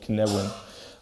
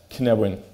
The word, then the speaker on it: Cynefin: rediscovered his thoughts on complexity and something called Cynefin.